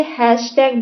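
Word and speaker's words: hashtag: बहुत सारे लोग इसे हैच बोलते हैं, ठीक है, हैच, लेकिन ये हैच नहीं होता है। इसका जो करेक्ट प्रोनाउंसिएशन होता है उसे हैशटैग बोला जाता है, हैशटैग, हैच नहीं होता है ये।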